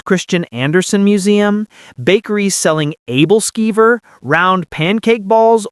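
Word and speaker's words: Æbleskiver: A Hans Christian Andersen museum, bakeries selling Abelskiver, round pancake balls older Americans pronounce Appelskivers, and that's fine.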